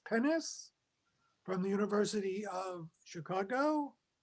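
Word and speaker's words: Pines: The best English translation is someone whose name is spelled P-I-N-E-S, Pennis, from the University of Chicago.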